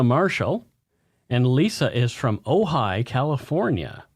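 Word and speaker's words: Ojai: and Lisa is from ohigh California ohigh ohigh it's spelled OJ i a or OJ AI so oh high oh high and what does Lisa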